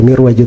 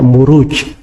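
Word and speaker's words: مروج: kalau di bahasa Arab gak dibaca mirwaj tapi dibaca muruj jamak dari marjun marajamuju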